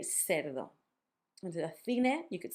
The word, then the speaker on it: cerdo: You can always say as an S, because some countries and some parts of Spain, instead of making the th sound, make an S.